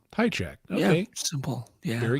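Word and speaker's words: Hajicek: Just so I hear it from the horse's mouth, how do you pronounce it? High check. High check.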